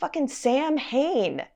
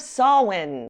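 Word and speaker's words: Samhain: saying sam hayne instead of sawin to offer the blood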